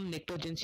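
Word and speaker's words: Pnictogens: इधर आपको लग रहा होगा कि मैंने गलत प्रोनाउंसिएशन करा है, लेकिन नहीं, इसको हम निक्टोजेंस ही कहते हैं। इधर पी साइलेंस रहता है।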